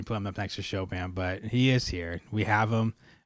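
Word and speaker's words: Chopin: They pronounced it Copen. Copen. I mean, I know I don't say Shopan as Shopan would say it. Uh, Shopan is an impossible name to say it because people want you to say it like he's French sometimes, but he wasn't French. I understand he lived in Paris for a very long time. Um, so who knows? But we we say Shopan, but Copen.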